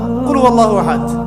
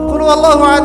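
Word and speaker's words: قل هو الله أحد: এখন দেখুন, এই যে সূরা ফাতিহা অর্থ বুঝলাম না, একটা সূরা পড়ে গেলাম কুল হুয়াল্লাহু আহাদ। কি কুল হুয়াল্লাহু আহাদ মানে কি? এটা উচ্চারণই বা কেমন করে করতে হয়?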